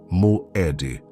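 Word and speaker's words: מועד: O nome do encontro que o céu marcou com você é Moed. Pronuncie comigo em voz baixa: Moed não é apenas uma palavra, é um decreto. Significa tempo fixado, encontro marcado, assembleia designada. Moed é a palavra que Deus usa para uma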